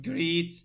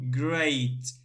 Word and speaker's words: great: And here we say a, not greet, no, greet, no, great, great.